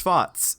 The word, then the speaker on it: Schwarz: It's just pronounced Schwarz. It's the T, the Z. It's pronounced with the T.